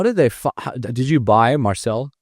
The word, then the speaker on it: Marczell: So yeah, it's spelled Marczell. It's actually a Hungarian spelling. The Z is silent in Hungary. So Marczell, M-A-R-C-Z, silent Z, E-L-L.